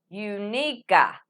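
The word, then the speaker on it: Εὐνίκη: the Greek, since it's there's no soft C like a S in English. So it was really neat. It's number 2131, and it was Unica.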